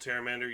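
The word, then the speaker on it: Pteramander: all right we'll take terramander it's funny that this is called terramander you just don't pronounce the p portable whole is actually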